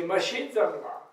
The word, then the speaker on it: Mashin Zangla: They say, Mashin Zangla. Mashin Zangla. Four syllables, which means just barely not dead.